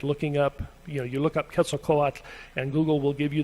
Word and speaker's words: Quetzalcoatl: your life, it is Quetzalcoatl, and that TL at the end isn't voiced, so it isn't Quetzalcoatl. And that's about as much as you'll ever really care to know about the pronunciation of Quetzalcoatl.